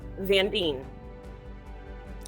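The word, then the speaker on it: Zarine: adelais huh good okay zandine rhymes with sardines I do like sardines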